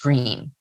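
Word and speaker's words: Gruene: quaint small town and it's spelled g-r-u-e-n-e but pronounced green it's a cotton producing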